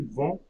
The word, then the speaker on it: vont: Ils vont. Elles vont. Ils vont. I'm not pronouncing T.